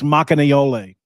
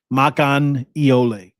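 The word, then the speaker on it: Makaneʻole: It's Makanayole. Kimo Makanayole. Somebody asking in the chat how to pronounce it again.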